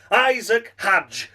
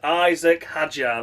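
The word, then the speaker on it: Isack Hadjar: Finishing in 6th place, we come to Isaac Hadj. I'm David Croft and I'm a fucking knob. That's right, it is Isaac Hadjar. That's how you say it, David.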